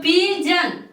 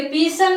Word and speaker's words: pigeon: तो पिजन, पिजन बोलेंगे, पीसन नहीं बोलेंगे, पिजन, पिजन, पिजन का मतलब कबूतर।